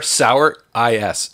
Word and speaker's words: souris: spelled S-O-U-R sour I-S. Souris. Is Souris.